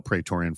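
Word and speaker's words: Praetorian: pretorian by the way let me spell petoran for you and I'll spell it again at the end p r a e t o r i an that's petoran so petoran helps security teams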